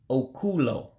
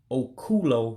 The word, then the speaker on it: Okulo: And so rabbit would actually be Okulo. Okulo rabbit. It looks like you would say okay ulo, but when you put them together, make one word, you drop a vowel, so it becomes Okulo.